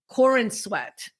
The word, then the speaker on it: Corenswet: So the new actor for the new Superman is David Corenswet.